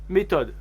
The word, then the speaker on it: méthode: difficile à trouver une méthode la méthode méthodologique pong farah comme en anglais mason on ne prononce pas le h en français une mission impossible comme